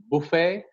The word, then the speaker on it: buffet: There are some French words again that have come into English, like ballet, buffet, gourmet. The T goes silent in these words.